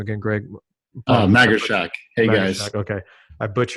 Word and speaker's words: Magarshak: do you say last name again greg oh maggie shaq hey guys okay i put your last names